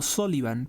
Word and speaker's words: Sullivan: originarias de Venezuela en Sullivan en la Merced que de hecho eso se debería de pronunciar como solivan Pero bueno en sulivan